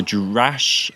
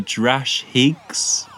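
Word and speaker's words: Drashig: category best monster and the nominees are the jurash oh no we're gonna say it wrong the drash higgs carnival of monsters the draconians frontier in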